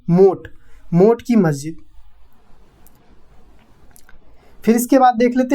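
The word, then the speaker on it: मोठ की मस्जिद: मोत लिखा है लेकिन इसका हिंदी प्रोनाउंसिएशन है मोट की मस्जिद।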